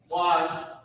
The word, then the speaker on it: bakwash: Bakwash is how you pronounce it, Ba, and then Kwa and Shah are connected.